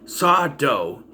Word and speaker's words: Sardo: Magic Mansion where they meet Saw Dough, no mister, accent on the dough, and he sells Max a Shandu magic kit.